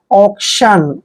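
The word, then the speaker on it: auction: हम एस्टोनेट वर्ड देखिए ए यू सी टी आई ओ एन देखिए ए यू का उच्चारण हम ओ करते हैं ओ ऐसे और सी को हमने आधा क पढ़ना है और टी आईओ एन का उच्चारण शन करते हैं ऑक्शन क् मींस होता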